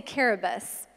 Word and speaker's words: Kiribati: I went to an island just south of Hawaii called Kiribati. The locals say Caribus.